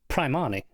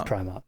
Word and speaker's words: Primark: I'll give you that one, but it can't be Primark because it's Primani. That's the slang, and that doesn't work if it's... You can't do Primani, so it doesn't work. Sure you can. So of course it's Primark. No, because it's a play on Armani.